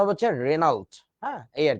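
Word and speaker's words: Regnault: এ ইউ এল টি তো উচ্চারণটা জি silent so উচ্চারণটা হবে হচ্ছে রেনাল্ড হ্যাঁ এই আর কি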